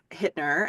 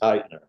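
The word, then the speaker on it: Hytner: It was directed by Nicholas Hittner and written by Carol Heikkinen, and I'm hoping that I pronounced those names correctly. I did not. Nicholas Heitner. Heitner. Nicholas Heitner.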